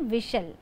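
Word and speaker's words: whistle: डब्ल्यू एच आई एस टी एल ई इसे हम वििस्टल लिखते हैं लेकिन पढ़ने वक्त टी साइलेंट हो जाता है। इसीलिए सीटी को हम इंग्लिश में कहते हैं विसल।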